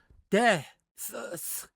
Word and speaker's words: deaths: deaths 이렇게 또 같은 계통 발음이 두 개 이어지죠. 이럴 때는 앞에 th 발음은 그냥 안 합니다. 안 하고 그냥 deaths, 7 deaths in France 이렇게 발음해 주면 되겠습니다. 굳이 앞에 있는 th 발음은 쓰 이렇게 어렵게 발음할 필요 없습니다. 원어민은 그렇게 발음 안 합니다.